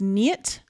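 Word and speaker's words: Neet: I could see it I believe it's spelled n-e-e-t but it's pronounced knit and she has asked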